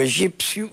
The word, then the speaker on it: egípcio: Portanto, egípcio, o P é articulado, escreve-se.